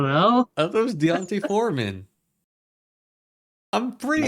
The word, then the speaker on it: Deonte: someone will get hurt I thought it was Don like Don want Fanta what it's Deonte it's simply not deont all right well all